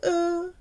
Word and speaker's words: eux: Now we've got them, with them, avec eux, E-U-X. So it rhymes with the French for number two, de.